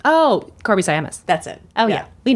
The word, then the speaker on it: Korby Siamis: uh someone who wrote it again oh uh Corby saamis yes that's how you say her name oh Corby sayam that's it oh yeah we know her and